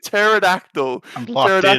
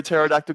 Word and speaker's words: pterodactyl: we're starting with pterodactyl why can't you hear a pterodactyl go to the bathroom Jed nippler because the p is silent and in number 16.